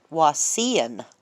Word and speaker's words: Wauseon: is this hospital where he went was in Wauseon, Ohio, as I believe how they pronounced it.